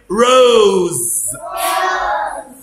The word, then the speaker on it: rose: letter s بننطقها s عادي زي سنيك وكده، بس اس لو جت between two vowels بين حرفين متحركين، بص زي هنا اهو هنطقها زي. اقول هنا ايه؟ rose، vase، يبقى ايه؟